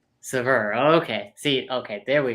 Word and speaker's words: Sauveur: Nobody pronounces it correct. It's Sauveur. Sauveur.